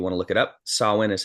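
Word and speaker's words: Samhain: Halloween originated with the Pagan ritual and it's pronounced sawin but it's Sam Hae s m ha a i n if you want to look it up sawin is how you pronounce it this ancient Festival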